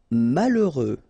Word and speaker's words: malheureux: Moche antipathique remember exatically antipque final pronounced antipathique malheureux H doesn't exist. OK. Mal final X not pronounc malheureux malsin together malsin